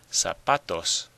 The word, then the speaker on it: zapatos: How about this one? Zapatos. Zapatos. Well, you probably hear that the stress is on the pa. Zapatos.